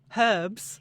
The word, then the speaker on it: herbs: Herbs. Yes. And in America, we say herbs.